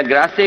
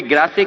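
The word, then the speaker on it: Grasse: France में perfume capital अगर है कोई, तो कोई ग्रासे कहता है, कोई ग्रास कहता है। वो एक प्रोनाउंसिएशन है कि इंग्लिश या फ्रेंच जो भी कुछ है।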